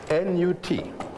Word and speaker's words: Nut: N-U-T. Pronounced Nut. Some people write it N-O-U-T.